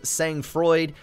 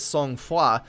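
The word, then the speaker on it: Sang-Froid: Their first one was a hybrid defense game named, if you're American and bad at pronouncing things, Sang Freud, and if you actually pronounce things correctly, I believe it's Song Foi.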